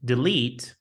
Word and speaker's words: delete: Now, delete and athlete are also similar. Remember, complete and delete do not rhyme with late and hate. They rhyme with feet and greet.